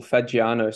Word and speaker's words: Fagiano: name uh so it's it's actually pretty simple fagiano so it's an Italian bird so a lot